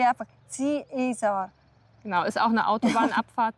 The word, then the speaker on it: Ziesar: Keine Ahnung warum, aber dieses kleine nette Kaff in Brandenburg spricht man irgendwie Ziesar aus.